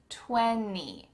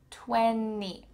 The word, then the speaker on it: twenty: Twenty, twenty, there's a T in the middle of this word. What happened to it? It's gone. So, we need to pronounce with word without the T, tweny, tweny.